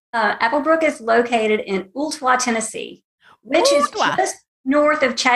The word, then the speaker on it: Ooltewah: Animal Hospital is in Tennessee that I always mispronounce? Applebrook is located in Ooltewah, Tennessee, which is just north of Chattanooga, which is easier to say.